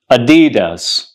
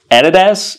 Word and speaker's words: Adidas: the correct pronunciation is Adidas Adidas Adidas Adidas Adidas so it's not Adidas it's Adidas Adidas you got to put your stress on D like Adidas Adidas all right what